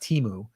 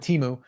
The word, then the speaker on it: Temu: shared with me some temu that's how you say it I guess by the way it's not teu um that's I that's what I was told this week yeah I'm gonna go with Teemu um got a little